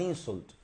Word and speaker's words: insult: también como verbo y la pronunciación cambia no verdad porque la la acentuación el Stress está en la segunda sílaba insult Okay insult por ejemplo